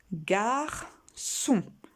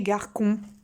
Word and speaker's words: garçon: Garçon. Pour faire le son on-O-N. C et O, ça fait co. Si on ne met pas la petite cédille, ça fait garcon. Donc, il faut bien mettre la cédille.